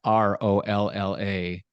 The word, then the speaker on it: Rolla: that is ridiculously cool called Rola that's r o l l a Rolla I was waiting for it I knew it was coming is that like Hala it's spelled similar just not with an H what Rola does and